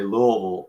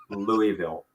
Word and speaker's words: Louisville: So I learned to say Louisville in school, but we were not allowed to pronounce that at the dinner table. So we were always corrected with, would you like to try that again? That's Louisville.